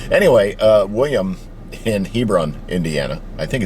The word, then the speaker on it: Hebron: And I think it's Hebron and and not Hebrron.